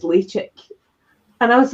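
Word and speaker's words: Ledaig: So Lechik is how you pronounce Lady. It's how it's written. But it isn't, and it isn't, because I remember Billy was trying to work out the correct way to pronounce this, and we asked two people at the distillery, and one said Lecheg and one said Lechek.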